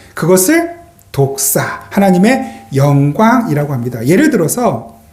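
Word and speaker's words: δόξα: 생각해 보려고 합니다 영광 헬라어로 독사는 그 독사 발음이 똑같아요 독사 그게 영광이거든요 그런데이 영광 독사는 하나님의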